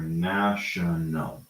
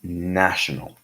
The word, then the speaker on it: national: We have a round A, and we have a flat A. So we have nation or national. Okay? Nation and national.